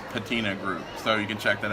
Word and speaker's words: Patina Group: But it's Patina Group, so you can check that out.